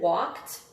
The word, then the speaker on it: walked: The policeman walked back to his car. Walked. That's the one that we said earlier. That's another T one.